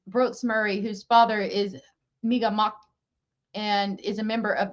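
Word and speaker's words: Mi'gmaq: I don't want to say it wrong. I think that's how you say it. It's not Micmac. It's Migamak.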